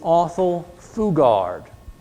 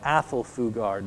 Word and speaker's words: Athol Fugard: This is Othel Fugard, or Athol Fugard, depending on how you want to pronounce it.